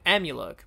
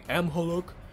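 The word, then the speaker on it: Amhuluk: call him amulook and i know i'm aware i pronounced the monster's name's pretty weird like muto and skyla instead of cilla or amulek instead of probably amholuk but um not only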